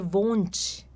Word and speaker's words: wohnt: Essa pronúncia aqui no final do verbo, cuidado para não dizer wohnt, né? É wohnt. Termina em T mesmo, ó.